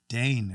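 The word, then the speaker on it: deign: Second one is, I thought it said design, but I just realized there's no S. Having trouble with this one. Dane. You're saying it correctly too.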